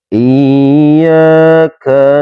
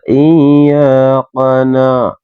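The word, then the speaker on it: إياك: Enggak boleh teman-teman biasa iyaqana ya. Iyaqana ya enggak boleh. Jadi harus dibaca hames sesuai dengan porsinya.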